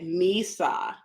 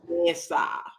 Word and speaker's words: mesa: I was just like, because I think I said misa instead of mesa. It's yeah. I was like, it's the same thing. And she's like, Mom, you have to say it like the Spaniards.